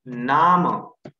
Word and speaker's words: Name: okay, next, अगर he, she, it और एक फोर्थ चीज है जो कि है नाम, name and pronounced as नामा in German.